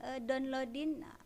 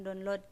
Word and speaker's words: download: Tolong dong downloadin. Memang itu ya lebih simpel. Padahal pengucapannya bukan download gitu, tapi download. Download. Jadi ada penekanan depannya.